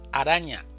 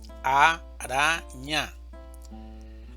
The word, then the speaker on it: araña: Araña. Araña. ¿Dónde está la mayor fuerza de voz? En ara. Araña.